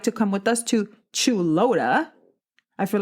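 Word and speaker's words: Chuluota: How to pronounce? Chulota. Chulota.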